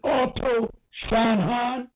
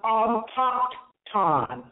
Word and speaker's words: autochthon: And you pronounce it auto Shanhan? No, autochthon. It's not. It don't sound exactly how it's spelled. Some of the letters are silent, so it's autochthon.